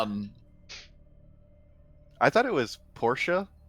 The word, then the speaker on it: Portia: uh I I thought that her name was porcelain as in like yeah we we've made comments on this before her name is very similar to porcelain yeah um I thought it was Porsche like the car it is well it's pronounced